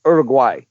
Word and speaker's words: Uruguay: And it's, you know, in Spanish it's pronounced Uruguay, right? But everybody says Uruguay.